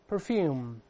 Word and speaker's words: perfume: 以在后面，再来吧，perfume，都算对。